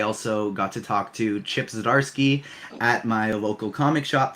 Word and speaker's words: Chip Zdarsky: Chip Zdarsky.